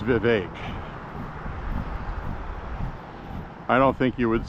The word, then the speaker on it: Vivek: It's pronounced Vivek.